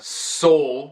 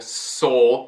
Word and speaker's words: soul: Ou outro exemplo, aqui a gente tem a palavra soul, com vogal longa, soul, por causa do Magic E.